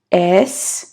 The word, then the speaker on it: est-ce: Je suis bien, bien, mais est-ce, да, здесь у нас «с» не читается, остается «с».